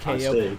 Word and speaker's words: Keioh: my Volpera monk in World of Warcraft is named Keioh, and it's pronounced KO for exactly the same reason.